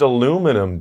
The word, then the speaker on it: aluminum: that is did you say aluminium yeah it's pronounced aluminum dude oh potato potato i pronounce it aluminium